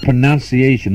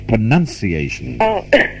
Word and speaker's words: pronunciation: advice to accept this advice the word is not pronunciation its pronunciation alright well now in Australia we are quite